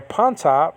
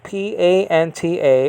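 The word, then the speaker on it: πάντα: uh greek over here the greek over here ponta p-a-n-t-a all things okay it's in the neuter uh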